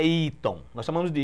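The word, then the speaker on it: Eaton: é o nome americano eu sei que é iton nós chamamos de iton mas qu se pronuncia as letras é iat iat né e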